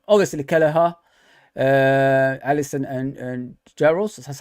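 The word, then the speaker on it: Jaroš: As you can see, the Europa League squad it's obviously Kelleher, Allison, and Jaros.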